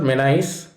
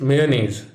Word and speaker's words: mayonnaise: It is not mayonnaise, it is mayonnaise with nays pronunciation. Ever wondered why the short form of a word pronounced mayonnaise is mayo? Well, it is because the original should be pronounced mayonnaise. Just remember, what would mayonnaise be without mayo?